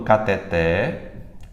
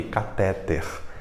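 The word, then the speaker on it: cateter: Como é que a gente quer pronunciar essa palavra aqui? Catéter. Pronunciando como se fosse uma paroxítona. Na verdade, ela é uma oxítona.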